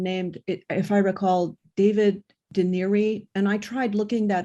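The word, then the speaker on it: D'Anieri: It's Paul Deneri. Paul, Yes. And it's spelled D.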